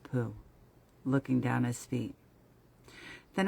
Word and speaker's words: Pooh: Pooh, by the way, is pronounced sort of like poo, but without so much ooh, like the sound you make when blowing a bug off your arm on a hot summer day.